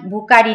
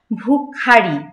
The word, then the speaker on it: ভুখারি: একসাথে হবে, ভুখারি ফুখারি, ভুকারি না কিন্তু ভুখারি, ফুখারি, যেখানে খ থাকবে, যেখানে ক থাকবে কয়ের উচ্চারণ হবে খ, তো মহাপ্রাণ ধ্বনি, এই মহাপ্রাণ ধ্বনিটাও একটু জোর দিয়ে উচ্চারণ করতে হবে, ভুখারি ফিরিয়া চলে, চলিতে